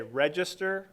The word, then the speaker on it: Regester: run for office uh my yard sign will say register for register so that's how you say my name that's why I used